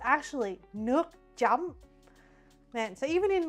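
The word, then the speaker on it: nước chấm: But it's actually Nuke jam, man.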